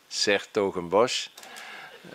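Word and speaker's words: 's-Hertogenbosch: I'm a mayor of a middle-sized Dutch city with a difficult name to pronounce, Sertogenbosch.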